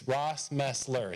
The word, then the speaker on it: Rossmeisler: And she said, make sure she knows it's Rossmeisler. It's 3 syllables. And I know it's a tough one, so that's my grandma's advice, 3 syllables.